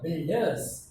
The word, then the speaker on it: builders: Builders. Now U is silent here. U we generally don't pronounce U. Just like in biscuits, the same spelling in biscuits. B-U-I. U is not pronounced there. It is silent.